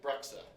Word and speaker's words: Breksa: Breksa.